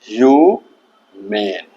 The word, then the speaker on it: HUMANE: इसका उच्चारण होगा ह्यूमेन। HUMANE को क्या पढ़ेंगे? ह्यूमेन। अब इस वर्ड को हम लोग सीखेंगे कैसे? पहले हम लोग इसको रटते थे, HUMANE ह्यूमन, HUMANE ह्यूमन, HUMANE ह्यूमन। नहीं, अब रटना नहीं है।